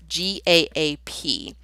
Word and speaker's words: GAAP: And I know it's phonetically incorrect. It probably should be GAPE, but we tossed we tossed phonics out the window years ago, so I guess we're not holding ourselves to that.